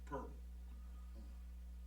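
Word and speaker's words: Poeltl: and his name is spelled Poetl, and it's pronounced Pearl.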